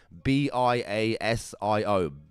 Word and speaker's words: Biasio: Fabio, F-A-B-I-O, then space D-E, space B-I-A-S-I-O. Biasio? Fabio Biasio, I think is the correct terminology.